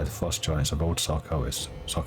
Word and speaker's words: Sarkoris: frost giants of old Sarkoris. Oh, I thought it was Sarkosis. It's not Sarkoris. I'm going to mispronounce it all the time.